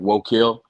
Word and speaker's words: Woakill: Well, it takes the word woe, and then it's actually pronounced Keel, like Wokeel.